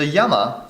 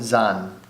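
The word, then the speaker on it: 山: um earlier on uh in ancient China so Yama is written or mountain or yeah Mountain so Mountain can be written as Yama for Mountain by itself Sun or Zan Yama s and Zan is one of my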